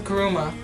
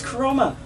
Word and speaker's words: Kuruma: friend Juan that plays GTA calls it the Kuruma. Well, yeah, because Still. that's not how it's pronounced. It's Kuroma.